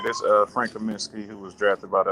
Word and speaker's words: Kaminsky: the latest signing uh Frank uh commencement if that's if I said the name right he said it right this uh Frank Kaminsky who was drafted by